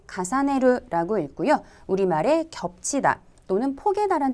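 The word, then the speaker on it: 重ねる: 발음은 가사네르라고 읽고요.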